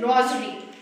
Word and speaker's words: rosary: And tasbih, its English is rosary. What's the word? Rosary. Is this word? Here is S. We are finding here S. But in pronunciation we say it like that. Rosary. It seems to be Z.